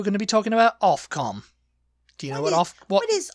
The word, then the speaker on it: Ofcom: I always just assumed it was OFF. Off, because you're pronouncing it like OFCOM. Yeah, I mean, it technically should be. Yeah. But it's OFCOM.